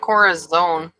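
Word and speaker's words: Corazón: No, not Corazon. There's no E at the end of it. That's how we pronounce it, though, right? Corazon. Corazon. Almost like that son. tongue thing. Corazon. Corazon. Son, like son.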